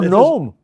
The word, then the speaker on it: gnome: and then of course the silent or Nome or gnome g n o m